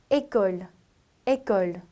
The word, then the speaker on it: école: 학교라는 단어를 école. 괜찮으세요? 자, 그렇기 때문에 액센트의 이름이 아주 중요하다라기보다는 알파벳일 때 발음과 액센트를 붙였을 때 발음의 차이 정도만 여러분들이 이해하시고 발음을 해주시면 되세요.